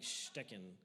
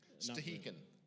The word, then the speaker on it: Stehekin: I mean, it'd be like Stecken or something like that, but that's not right. I'm a little bit dyslexic. Stehekin.